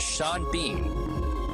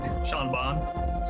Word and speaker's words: Sean Bean: You gotta pronounce both his first name and last name are spelled practically the same, all right? There's gotta be some consistency. Is he Seed Bean or is he Shawn Bawn?